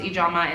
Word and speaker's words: Ijeoma: to be like, oh, actually it's pronounced Ijeoma, and so you guys should all say Ijeoma because that's what it is.